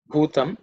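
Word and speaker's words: भूतम्: Okay, so bhutam, I think in terms of pronunciation, the word bhu, the first letter is bhu, is the fourth letter in the pa varga, so it has to be aspirated, like om bhu bhuvaswa.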